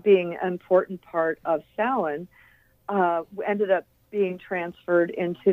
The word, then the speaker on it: Samhain: the John Carpenter movie, they pronounce it Samhain as if it's like a person named Sam. But yeah, because it's Celtic, it's got a weird pronunciation. So, yeah, it is actually pronounced Samhain.